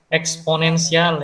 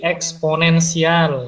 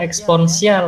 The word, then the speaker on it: eksponensial: Eksponensial ya. Gimana, Pak? Cara bacanya itu distribusi eksponensial ya. Bukan eksponensial ya, eksponensial.